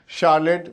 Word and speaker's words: Charlotte: देखिए स्पेलिंग के हिसाब से अगर आपको आसान सा बात कहूँ तो ये बहुत बार रिपीट होता है ये नाम शार्लेट. अगर मैं एकदम इंडियननेस पे आ जाऊँ तो चार लोटे, CHARLOTTE.